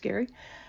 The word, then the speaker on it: Gerry: And I wasn't going to do that because my partner and I, Gerry, pronounced Gary, do love taking classes during the pandemic.